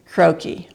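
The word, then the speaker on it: croquis: croaky there's the word croakie and the croakie is by the way they say it rhymes with hokie if you don't know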